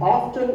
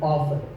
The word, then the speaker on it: often: Now, strictly speaking, often is not wrong, but the more common pronunciation is with the T silent. So I recommend that you always say often.